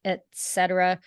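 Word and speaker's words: et cetera: and it really is I believe it's Latin and it's really two words at ET so at and then Etc Etc you're saying say it again you're saying at Etc so ET and etc etc etc yes right and Etc it always helps me pronounce something if I can see in my head the way it's spelled and so Etc is e t and then the cetera is c e t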